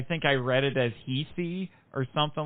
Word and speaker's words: Heisei: more recent era because now we're in the Heisei.